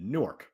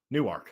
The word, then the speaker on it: Newark: that had be confused that's what Noah needed nework Newark that's right I like it very good so